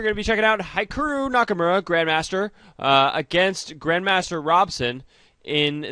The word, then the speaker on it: Hikaru Nakamura: Hikaru Nakamura, sorry, it's Hikaru Nakamura. I always mispronounce his name. Hikaru Nakamura.